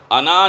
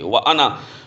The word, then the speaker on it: أَنَا: سے پہلا مسلمان ہوں۔ یہ انا جو ہے یہ بعض جگہ پہ الف لکھا جاتا ہے، لیکن اس الف کا تلفظ نہیں کیا جاتا، صرف اس کو نون کے زبر کو اس کے ساتھ پڑھا جاتا ہے، وَأَنَا، انان اس کو نہیں پڑھ سکتے، وَأَنَا تو یہ ضمیر ہے